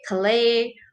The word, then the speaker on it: Calais: Okay, Calais. All right, those are those pronunciation. Okay, so France. All right, you have to pronounce it in French.